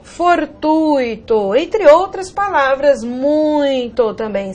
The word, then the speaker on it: fortuito: Há pessoas que pronunciam gratuito, fortuito, intuito, cuidado. Essas palavras não são hiato, né? Não tem pronúncia tônica do I, pelo contrário, elas são ditongo, e o ditongo aqui no caso mostra, o I é semivogal, ok?